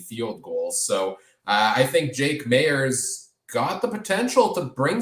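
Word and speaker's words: Jake Maier: around jake mayer uh we gotta get the pronunciation right there adam if he's starting the rest of the way it's jake mayer um there for that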